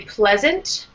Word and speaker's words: pleasant: And say pleasant. Pleasant. First syllable is strong.